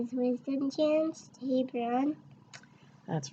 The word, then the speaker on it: Wisdom: And some people think that my name is spelled W-I-Z-O-M. Really? Yeah, because sometimes the Z kind of sounds like an S. The S kind of sounds like a Z in your name, huh?